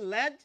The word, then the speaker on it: লেজ: আমি নিজেই এই শব্দটিকে লেজ বলি, আমার দলে অনেকেই আছেন। তো যেটি এখন আধুনিক উচ্চারণ অভিধানে লেখা হচ্ছে যে এই শব্দটির উচ্চারণ এখন ল্যাজ এবং লেজ দুটিই স্বীকৃত।